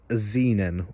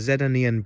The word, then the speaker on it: Znen: But when I was at the dealership, it was sold to me as a Znen or a ZN. It's spelled ZNEN, so you can have a look at that.